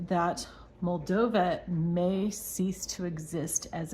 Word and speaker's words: Moldova: saying wrong all along so it's mova not mava not mavia it's mova and I may still